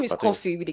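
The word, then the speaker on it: Koffee: I was tempted to actually pronounce the way she pronounced it. That was toast because you want you want to call it coffin and all of that, right? Her name is coffee with a K.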